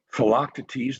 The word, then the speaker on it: Philoctetes: a version of Sophocles' Philoctetes, that sometimes a more British inflection would be Philoctetes. Like a lot of Greek names, they can be pronounced in various ways.